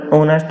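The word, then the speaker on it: honest: मैन ही इज एन ऑनेस्ट मैन इसका right answer होगा एच यहां पे साइलेंट है ऑनेस्ट में एच साइलेंट है और इसकी ध्वनी की शुरुआत होती है वो ओ से होती है ठीक है ओ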